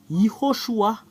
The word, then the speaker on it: Yehoshua: Voilà le fait de prononcer ce terme. Yehoshua. Je vais le mettre ici. I et H. Ho. SH. Et U. Et A. Et Yehoshua.